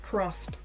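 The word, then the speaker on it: CRSSD: Crossed. It's spelled C-R-S-S-D.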